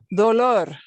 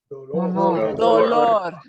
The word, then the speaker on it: dolor: But this is a very different word. It has a very different meaning. Dolor. Dolor. Dolor. Two O sounds.